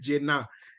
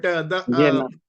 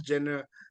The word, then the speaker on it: Jena: so it is called Jena. But Jena. the commentators are pronouncing it like Kylie Jenner, so they pronounce Jenner like that, and it's quite funny actually.